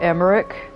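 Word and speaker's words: Aymeric: Also, whenever I um when I say Amir's name, it's a very American way. I'd like to pronounce that A, but uh there's times uh where his name is more actually close to Emerick. Um, and you can actually hear it being pronounced more that way in cutscenes, but it's just so ingrained that I call him a with a, but I feel like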